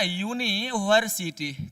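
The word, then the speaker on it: university: लेकिन मैंने अभी क्या बताया कि इसका उच्चारण करना है। यून है ना यूनिवर्सिटी।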